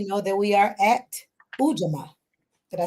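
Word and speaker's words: Ujamaa: So we know that we are at Ujama.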